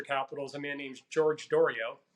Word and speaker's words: Doriot: a man named george dorio so he's uh french so there's the doriath there's the u.s pronunciation and then there's the french pronunciation of dorio he was a harvard